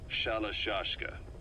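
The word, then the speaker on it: Shalashaska: known about that because somewhere along the line shoshka got stuck on the end of shiroshka the gorillas were used in the name amongst themselves by the time I got to hearing about it pronunciation had wound up as shalashka saw half Gulag half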